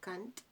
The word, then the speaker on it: Kant: His name is Immanuel Kant. K-A-N-T, okay? Immanuel Kant, or Kant, whatever, however you want to pronounce it.